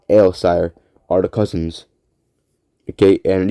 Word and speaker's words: Aelsire: Malice Gronoka and Norman Ailsire are the cousins. Okay, and these names are spelled. Malice is spelled Malys, and Gronoka is spelled Gronoka.